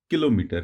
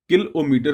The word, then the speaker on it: किलोमीटर: को नियुक्त से बड़े किलोमीटर है मुझे मेरे बहुत से लोगों को किलोमीटर बोलते हुए सुना है लेकिन इस का सही उच्चारण किलोमीटर होता है जो कि एक हजार